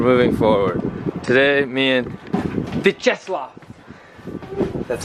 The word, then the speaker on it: Vyacheslav: Today, me and Vyacheslav, that's how you pronounce his name.